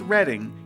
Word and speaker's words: Reading: And before we get too far into it, yes, it is pronounced Reading even though it is spelled Reading.